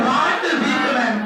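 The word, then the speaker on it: Walt Whitman: और इसके राइटर है व्हाट वीटमैन। क्या नाम है? एल जो है ना, एल को थोड़ा साइलेंट करके बोलिए। व्हाट वीटमैन।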